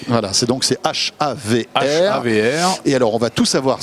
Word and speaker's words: HAVR: Havre, c'est ça? Comme la ville du Havre, mais sans le E à la fin. Sans le E. Voilà, c'est H-A-V-R. H-A-V-R. Et alors, on va tout